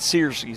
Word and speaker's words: Searcy: you I should know I know a girl back in Gulf Breeze it's spelled that way and it said Searcy's that's why I was screwing that up the